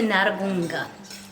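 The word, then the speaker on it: Nyarugunga: you soon welcome to naragunga and yes i actually said it right i said it like i am a kiron and that is an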